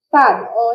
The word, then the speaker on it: Fábio: Fábio, observe só. Fábio. O fá saiu com maior intensidade e é a penúltima sílaba, então se trata de uma palavra paroxítona.